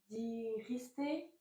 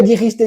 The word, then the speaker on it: dijiste: La prononciation du verbe. Oui. Dire, diriste, dijo, dirimos, diristeis, dijon. Dijeron. Dijeron. Dijeron. Dijeron. Pas mal, pas mal, pas mal. Dire, dijiste, dijo, dijimos, dijisteis, dijeron.